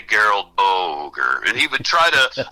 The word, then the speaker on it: Boger: It's like Gerald, only it's pronounced Gerald, g e r a l d. My last name is Boger, b o g e r.